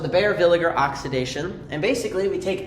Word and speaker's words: Baeyer-Villiger: a little interesting like people say Bayer Villiger or Well, that would be correct. Bayer villager. It's Bayer Villiger. Bayer villager, not villager.